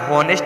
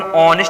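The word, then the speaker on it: honest: यहाँ पे हॉनेस्ट पढ़ते हैं कि ऑनेस्ट, ये भी तो हमारा कॉन्सोनेंट है। तो इसमें एन क्यों लगाती हो? क्योंकि इसको हम ऑनेस्ट पढ़ा जाता है।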